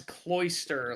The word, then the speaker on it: cloister: Yeah, well I think that's cloister, like oyster.